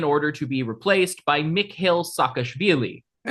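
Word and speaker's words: Mikheil Saakashvili: There was a contested parliamentary election and Charvadza resigned in order to be replaced by Mick Hill Sakashili. Hey, you pronounced that correctly.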